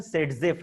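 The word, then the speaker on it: Zaitsev: सेडजेफ को मतलब ये अलेक्जेंडर जेटसेव ऐसा हमको लगता है, ये रशियन है, उसका प्रोनाउंसिएशन सेडजेफ है, ठीक है।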